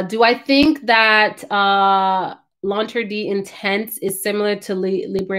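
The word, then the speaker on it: L'Interdit: circus no they not do you think she launter d i learned how to say that for the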